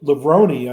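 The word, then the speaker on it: Levrone: you know Sydney McLaughlin lebroni I believe is the how she pronounced or how her married name is pronounced the thing that hurts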